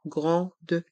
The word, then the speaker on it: grandes: dans le mot départ dans le mot grande les lettres a et n font leçon en grande dans grande et dans ligne le